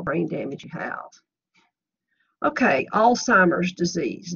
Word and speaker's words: Alzheimer's: Okay, Alzheimer's disease. Note the lack of a T. There's no need whatsoever in arguing with the general public. They all call it Alzheimer's, but that's not the correct pronunciation.